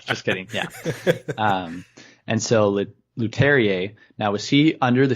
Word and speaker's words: Leterrier: It's, I think actually Leterrier. Last time Leterrier. I had no idea how to pronounce it. I looked it up and I completely forgot. So this time I made a point. I believe it's Louis Leterrier.